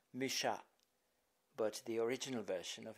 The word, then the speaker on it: Mucha: Théâtre de la Renaissance, his name is known worldwide in the French pronunciation as Mucha, but the original version of his name is Mucha.